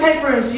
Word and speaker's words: Kuypers: Hi, my name is Kuypers.